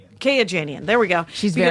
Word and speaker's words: Kayajanian: How would you pronounce her last name? Kayajanian.